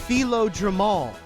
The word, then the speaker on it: Philo Drummond: It's pronounced Philo Drummond.